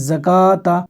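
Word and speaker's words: زكوة: थोड़ा सा ध्यान रहे अब ये है जकाता अलिफ यहां पर नहीं है यहां सिर्फ खड़ा ज़बर है ये जो वाव है ये नहीं पढ़ा जाएगा ये साइलेंट रहेगा कैसे पढ़ेंगे जकाता लिखा ऐसे ही जाएगा और पढ़ा ऐसे जाएगा जकाता सलाता यहां वाव के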